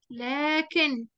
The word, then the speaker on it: لكن: لكن، لكن. طيب نطقناها إيه؟ نطقناها بألف بعد اللام، لكن.